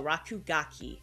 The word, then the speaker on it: Rakugaki: Oh, Rakugaki. Okay, that's how you pronounce it.